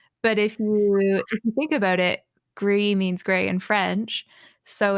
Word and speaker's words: Gris: podcast I'm Chris and just pronounce it wrong the entire time gr is yeah it's great which